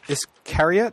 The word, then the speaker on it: Iscariot: I'm up on page 300 for Iscariot. I think that's how you'd pronounce that. Yep, as in Judas Iscariot.